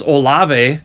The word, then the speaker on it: Olave: but um and I'm going to say his name wrong Chris olave did I say that right yeah uh yeah